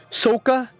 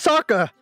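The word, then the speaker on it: Sokka: avatar live action like soka his name is saka the cartoon was english dubbed and they said saka his name is not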